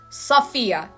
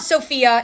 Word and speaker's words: Sophia: Sophia. It's not Sophia, it's Sophia. It's really not that hard. Sophia. Sophia is just not correct.